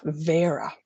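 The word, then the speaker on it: Bheara: Spiral 2 explores another aspect of the Cailleach, which is Cailleach Vera. BH is pronounced like a V in Irish.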